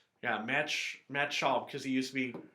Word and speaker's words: Schaub: Oh, Is that how you pronounce it? Yes, you're right. Yeah, Matt Schaub, because he used to be quarterback of the Texans.